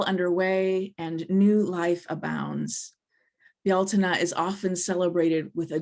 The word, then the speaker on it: Bealtaine: normally see it called, Americans would look at it and pronounce it Beltane, but it's a Gaelic word. And so I've been taught to pronounce it Bealtaine, which is probably unrecognizable compared to how it's spelled.